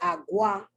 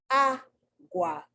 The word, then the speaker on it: agua: So feminine nouns that begin with the stressed A, agua, it's not agua, it's agua. The A is emphasized.